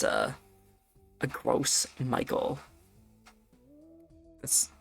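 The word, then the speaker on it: Gros Michel: It's a a gross Michael. That's how you pronounce that, by the way.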